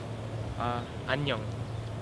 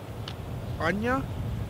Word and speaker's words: 안녕: 안녕. Anya?